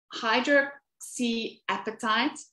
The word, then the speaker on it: hydroxyapatite: So hydroxyapatite is how you pronounce that word, is a natural occurring substance